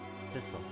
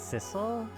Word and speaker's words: Sissel: missile missile I'm sorry I'm not missile I'm Sissel oh am I that's why how I pronounce his name is at first it's Sizzle but I guess that's how it's uh and